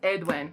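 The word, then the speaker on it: Aeduan: make up the names because edwin is spelled like a e d u e or something like that where the hell is edwin he has like full-on there it is oh a-e-d-u-a-n that's edwin but when she says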